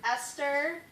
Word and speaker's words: Esther: reading scripture might be helpful knowing how to pronounce these. So we have Esther, and then she's the main character.